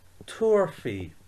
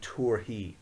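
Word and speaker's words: tabharfaidh: it has no i so the way we pronounce this is turfy or some people remember instead of that fee some people say he they would say tour he so turfy or torhi turfy may to shay she famige and we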